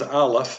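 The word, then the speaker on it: א: out here okay so that is known as aleph it's one of the two silent letters um both aleph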